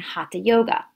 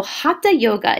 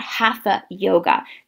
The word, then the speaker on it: hatha: regulate the breath so hatha yoga is spelled h-a-t-h-a you hear a lot of people in the west say hatha yoga it's not half a yoga again this is a sanskrit word